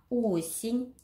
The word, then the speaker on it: Осень: Осень Ударение падает на О, без ударенного гласной Е.